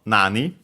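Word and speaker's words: なに: Uh as you can see here uh actually in its pronunciation nan uh by the way nani accent on the first uh syllable on the na itself also when pronounced as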